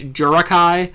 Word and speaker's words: Jirachi: Jirachi, or my preferred method of pronouncing it is Jurakai.